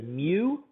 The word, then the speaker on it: mu: opposed to this symbol right here which we pronounce as mu and mu represents the mean of all the population value